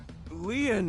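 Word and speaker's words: Lien: are an angel KY my name lean is spelled l i e n in French lean means Bond just like K means bond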